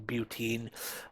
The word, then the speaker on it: butene: have bute and this should be pronounced bute, like with butane, butene.